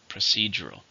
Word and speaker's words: procedural: How many syllables? Procedural. 4, stress in the second, procedural.